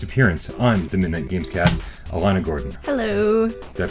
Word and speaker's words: Alana: And to my right, your left, making her very first appearance on the Midnight Gamescast, Alana Gordon. Hello. Did I pronounce that right? Is it Alana? Alana.